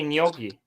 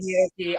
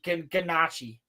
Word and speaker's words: gnocchi: I bet you there's nowhere in the world where it's pronounced ganache.